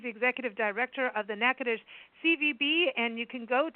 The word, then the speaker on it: Natchitoches: I'm going to spell that. It's Natchitoches. Well done. But it's pronounced Natchitoches. A lot of us want to say Natchitoches.